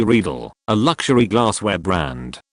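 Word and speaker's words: Riedel: quietly remarked as an aside to her it's pronounced R not ryel she gave me the death stare my dad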